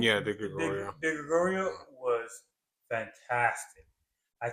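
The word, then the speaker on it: Di Gregorio: Yeah, De Gregorio.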